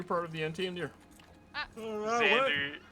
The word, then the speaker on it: Xander: Xander, it's Xander X. Yeah, Sanders. No, Xander. There's no Sanders. S. Yeah. Sanders? Well. Sander. Sander. Am I saying it wrong? Yeah, Xander. yeah. Sander? Yeah. There we go. Sander? Yeah. With an X.